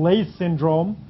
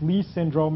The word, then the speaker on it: Leigh syndrome: For example, Leigh syndrome, or more correctly pronounced Lee syndrome, as the man pronounced his own name, looks just like this.